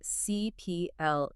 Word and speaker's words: CIPLE: And as we always have to stress, let's make sure we're all saying it correctly. It's CPL. CPL.